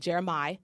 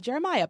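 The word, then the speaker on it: Jeremih: still is it's by a guy called jeremi not Jeremiah but jeremi and the song is called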